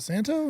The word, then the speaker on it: Santo: Is it Santo? Did I say that wrong? No, you said it right.